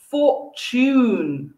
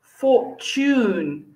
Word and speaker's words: fortune: rules in british english the two letters t u when put together particularly in the middle of a word though sometimes also at the beginning of the word it's not pronounced to it's pronounced that symbol the t in a strange long thing ch ch choo choo so what words do